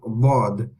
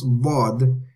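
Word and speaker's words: ض: Okay, so the way we pronounce Dad is we use the back end of the tongue. Okay, so we use the back end of the tongue touches the gums of the upper back teeth, either the left or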